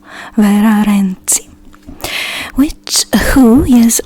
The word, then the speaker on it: Vera: is about vira renzi the romanian pronunciation is vera vera which who is said